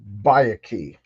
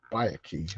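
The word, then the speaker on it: Byakhee: She's going to kill that bay key. That Yeah, Bayaki is how you pronounce.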